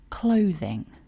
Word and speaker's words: clothing: Notice the pronunciation. 2 syllables with stress on syllable 1. Clothing.